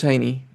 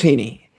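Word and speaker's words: Heaney: name says A and the EA and the last name says E. But anyway, uh Sheamus Heeney.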